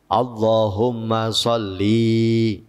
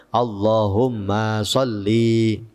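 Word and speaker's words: اللّٰهُمَّ صَلِّ: bacane Kay k attahiyatul Allahumma sholli padahal kan lamnya kan Pendek Allahumma shli ala sayyidina muhammad adi yang bacanya Allahumma SH Allahumma sholli ya mimnya panjang lamnya juga panjang faslun aqallus salam Asalamualaikum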